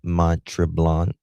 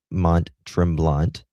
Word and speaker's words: Mont-Tremblant: Near the hotel of Montrel. Am I pronouncing that? I'm not. I'm not. Yeah. Mont Trimblant uh that's in uh